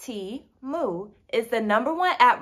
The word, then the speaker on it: Temu: hand wash only so Teemu pronounced tea moo is the number one